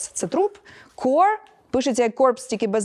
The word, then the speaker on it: corps: core core от питання Чому оці PS не вимовляютьсяe не ну насправді Зрозуміло Тому що це слово тому що це слово французького походження і там половину літер просто можете Ну типу ігнорувати ось Тому infantry -